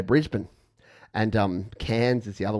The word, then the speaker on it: Brisbane: Cairns, like Queensland in particular, has so Brisbane is how you say the capital of Queensland, not Brisbane.